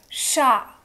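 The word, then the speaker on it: chats: Now we have chat in plural. Chat. S is not spoken.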